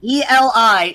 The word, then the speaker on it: Eli: E-L-I is pronounced Eli.